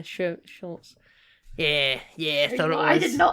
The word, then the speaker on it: Schultz: I can't pronounce his name, it's weird. Dwight Schultz? Schultz. I was going to say Shouts. Yeah, Schultz.